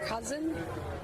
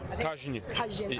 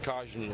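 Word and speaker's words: Kaźń: Is it Cousin? Kazhin. Okay. It's pronounced Kazhin, and it's a word you can't really translate it from Polish to this.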